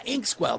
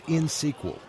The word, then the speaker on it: INxSQL: I think it was InsQL. You mean INXSQL? That's in SQL.